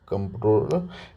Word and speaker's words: comptroller: कंट्रोलर and auditor general, इसे कंट्रोलर बोल देते हैं, लेकिन इस यहाँ एन की जगह एम है, ये स्पेलिंग आप याद रखना। COMPTROLLER, कंट्रोलर and auditor general.